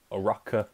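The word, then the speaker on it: Uraraka: episode of just Deku versus cut Shaun with a rocker I'm saying her name right now and I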